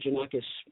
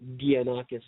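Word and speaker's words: Gianakos: Janakis, but it's spelled really my birth name was spelled with a G.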